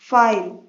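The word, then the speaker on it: file: फाइल, फाइल में आई का sound आ रहा है इसलिए आई लॉन्ग वॉवल साउंड है और ई साइलेंट है।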